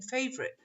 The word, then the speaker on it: favorite: syllables are there in favorite? Favorite. But when we say it, what does it sound like? How many syllables are there? Favorite. 2 syllables. Favorite. Favorite. There's no O.